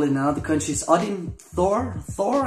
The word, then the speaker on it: Thor: in other countries odin thor thor i think it's tour tour in denmark um so we basically